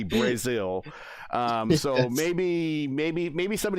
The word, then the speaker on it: Brazil: It's spelled Brazil, but they say Brazil.